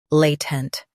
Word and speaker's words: latent: Lay, tent, latent. Stress lay and keep tent light.